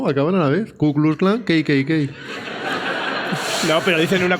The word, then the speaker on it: Ku Klux Klan: Espérate porque no lo sé pronunciar bien, Rodrigo, a ver si me ayudas. Klux. No dejes tanta pausa. ¿Cómo es? Ku Klux Klan.